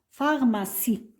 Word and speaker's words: pharmacie: mot on a avec I se prononce ce on dit pH pharmacie alors j'aiécris fa voilà fa ma si à la fin e